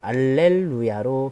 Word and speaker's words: 알렐루야: 이 할렐루야는 가톨릭에서는 알렐루야로 발음을 합니다. 그 이유는 할렐루야가 라틴어로 번역되는 과정에서 알렐루야로 H 발음이 묵음이 되었기 때문입니다.